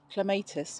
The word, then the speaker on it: clematis: Clematis, or clematis as you might pronounce them.